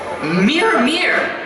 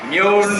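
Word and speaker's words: Mjölnir: How do you say it? Mjolnir? Mjolnir. Mir. No, Mjolnir. Mjolnir. Look, repeat after me. Mjolnir.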